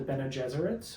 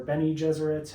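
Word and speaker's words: Bene Gesserit: of women priestesses called the Bena Jesuits or Benny Jesuits however you want to pronounce it I think they have like some British actors in the movies so they kind of pronounce it benad Jesuit I think that rolls out the tongue the tongue nicely so that's kind of how I say it so these people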